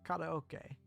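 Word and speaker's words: カラオケ: addressing it, but yes, in English, we pronounce it karaoke, even though it's not even close to how it's pronounced in Japanese. Karaoke. Like, pretty much every syllable is different. Ka versus K. As it instead of re, not he. Slight difference there, but it's there. O is the same. Karaoke. And then key instead of K.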